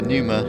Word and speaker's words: Pneuma: it Forza well uh Numa is uh has got a visible P but it is silent going to do speedrun